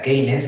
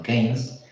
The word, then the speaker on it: Keynes: En 1936, el economista británico, que menos mal que existió, John Maynard Keynes, aquí, mira, pone aquí el matiz, no se pronuncia Keynes, sino Keynes, publicó un libro que se llama Teoría General del Empleo, el Interés y el Dinero, donde transforma absolutamente la macroeconomía, ¿vale?